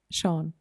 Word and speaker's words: Sean: And his pronunciation is completely different. What is his name? Sean. Sean. Yeah. Okay. And I mean, for some people, it's not easy. Especially with when you just see his name written.